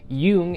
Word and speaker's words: Jung: pronounce it from what I could find online Yung is the best way to pronounce or the correct pronunciation of his last